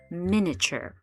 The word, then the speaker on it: miniature: This first sound and then I like an ih i and ch like a c h e r at the end. So you would say it as minure miniature.